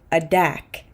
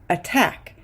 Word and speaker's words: attack: stressed syllable for example we don't say aack we say attack because the t is inside the stress syllable it's the same with